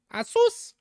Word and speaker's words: Asus: Asus.